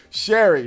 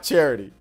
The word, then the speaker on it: Sherry: because we kept on spelling your name wrong sherry not charity oh my gosh dude